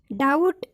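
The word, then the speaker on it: doubt: डाउट and date इसमें भी बी का उच्चारण नहीं हुआ है, क्योंकि इसमें टी से पहले बी आया है।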